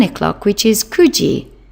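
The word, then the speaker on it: 九時: Again, you must not use the alternative pronunciation of 9, which is Q. Kyuji is not acceptable. Kuji. Juji is 10 o'clock.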